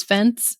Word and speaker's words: FNCE: doesn't make sense and maybe should be pronounced as fence rather than with a missing E in the middle and then a cheeky Y or IE at the end.